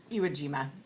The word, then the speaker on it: Iwo Jima: were colonizing the I don't know how to spell that, like Jima. Iwo Jima is how we say it.